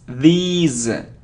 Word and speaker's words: these: It isn't this, no, it's these. It's a long sound and the sound is z, these, okay?